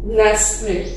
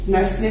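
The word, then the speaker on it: Nestlé: नेस्ले, नेस्ट ले लिखा जाता है, नेस्ले पढ़ा जाता है, इसमें टी साइलेंट है।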